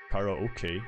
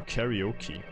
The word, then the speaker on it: karaoke: like the original japanese kara okay if you want to say like english speaker karaoke karaoke yeah yeah i want